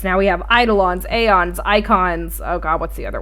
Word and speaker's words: Eikon: Anyways, Shadow, you have quite a bit of points to make about this trailer other than the icons, which icon is spelled EIKON, not the ICON, by the way.